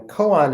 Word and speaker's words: koan: this about Coons and I'll be mostly calling them Coan is the Japanese pronunciation um and since Tai